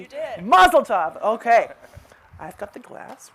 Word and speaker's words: mazel tov: tov did i say it correctly you did mazel tov okay i've got the glass right here thank